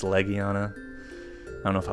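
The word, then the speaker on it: Legiana: I saw it name I used to pronounce it legana but it's Leana I don't know if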